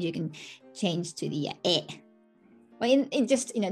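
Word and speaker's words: へ: And then the particle ni or e, that's the same, right? Usually we use ni. E, written as he, pronunciation e.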